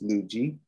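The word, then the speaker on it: Luedji: do you spell that l u e d j i that's lugia okay i'm into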